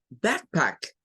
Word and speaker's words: backpack: Mire, cuando vea la CK al final de las palabras, sépase que la que suena es la K y no la C. La C queda sin sonido. Entonces, decimos backpack.